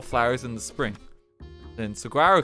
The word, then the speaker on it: saguaro: in the spring then saguaro cactus pronounced silver o oh okay sororo uh can grow to